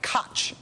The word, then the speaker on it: Koch: Looks like Koch Industries, as you can see there, but it's actually pronounced Koch.